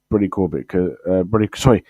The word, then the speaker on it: Brady Corbet: But I'm going to go with Brady Corbett. Brady Corbet. That's how it's pronounced, apparently. I thought it was Corbett, but apparently it's pronounced as Brady Corbet.